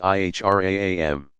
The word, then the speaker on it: Ihram: on the plain white wraps called the Ihram pronounced IHRA am the garb marks at to sacred space and